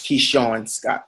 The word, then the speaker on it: Keishorne: So it's Keishorne Scott. So now I everybody's think I pronouncing did that.